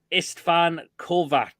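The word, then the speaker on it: István Kovács: was the referee and he was called istan kovak that's how he pronounced his name hold on this I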